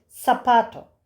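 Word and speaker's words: zapato: Seta tabii Z sesi değil. Sesi arkadaşlar. İspanyolcada daha çok biraz daha peltek H sesine yakın. Latin Amerika'da s sesiyle okunuyor. Sapato sapato.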